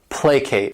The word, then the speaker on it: placate: This word has 2 syllables, and the stress is on that first syllable, placate.